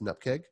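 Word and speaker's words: nupkg: cake file any pkg dot any pkg that's pronounced an up cake and yeah there's all these various abbreviations just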